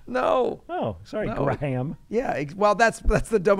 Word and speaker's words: Graham: Graham is how it's pronounced. He'll say it better than I can. Graham. Have I been saying it wrong all these years? Yeah, so have I. Don't worry about it. Okay, you got. Yeah. Sorry. I thought it was a soft H.